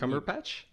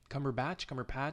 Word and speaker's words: Cumberbatch: Cumberpatch? Cumberbatch.